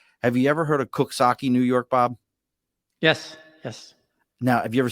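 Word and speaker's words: Coxsackie: Have you ever heard of Cooksaki, New York, Bob? Yes. Now, have you ever seen how Cooksaki is spelled? Yep. Does it sound like it says No.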